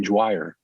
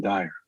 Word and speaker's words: Dyer: Their publishing house called him Wayne Dwyer. His name was actually Wayne Dyer.